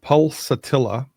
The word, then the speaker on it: pulsatilla: It's called pulsatilla. You spell that P like Peter, U like Utah, L